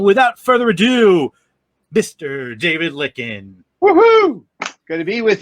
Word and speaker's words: Lykken: my mispronouncing your name it's licken right it is yep finger-lickin chicken like it takes a